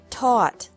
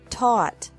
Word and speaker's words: taught: catch, caught, caught, fight, fought, fought, seek, sought, sought, teach, taught, taught, think, thought, thought. Remember that the G is silent in these verbs.